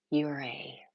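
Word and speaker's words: Ouray: No, it's pronounced Uray.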